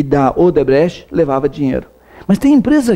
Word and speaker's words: Odebrecht: E a Odebrecht, essa é a pronúncia correta, construtora que também se espalhou pelo mundo.